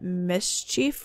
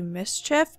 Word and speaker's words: mischief: sorry somebody like said I pronounced it miss Chief wrong it's actually mischief but I don't know